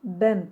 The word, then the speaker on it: bem: terimi olarak da kullanılan bam telinin orijinal telaffuzu bem telidir e bem Aslında e